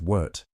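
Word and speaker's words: wort: After the rest, it's time to separate the sweet liquid, now called wart, pronounced wart, from the spent grains.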